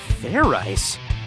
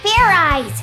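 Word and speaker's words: Fairize: again and this time make sure you pronounce the z let's do this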